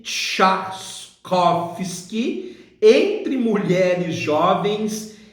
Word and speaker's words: Trzaskowski: a faltes asus copos que pronuncia-se chatos koffsky entre mulheres jovens e